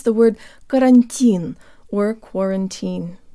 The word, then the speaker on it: карантин: The two T's in butter are actually very close to a flipped Russian R. Now pretend you're from New York City. Buttah. Buttah. And now replace the B with a C sound. Cuttah. Cuttah. This is really close to part of the first two syllables in our word.